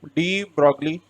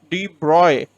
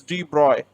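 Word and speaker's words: de Broglie: is it was given by deep broccoli okay d broccoli give give this hypothesis okay three broccoli hypothesis now we often say that it is rigged broccoli but its current correct pronunciation is deep broy okay it's de bruy okay it's connect correct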